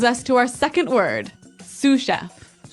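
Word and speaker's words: sous chef: Sue chef. Sue chef. Sue chef. Sue chef. S o u s. So, the s is silent because it's like a French word.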